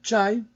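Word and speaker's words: chá: En portugais, l'infusion de Camellia sinensis se dit cha, qui est d'ailleurs très proche de la prononciation pékinoise.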